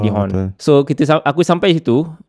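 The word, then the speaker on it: Dijon: A nama kawasan tu D Horn. A tapi ejaan dia D I J O R N. Tapi kita panggil sebagai De Hond.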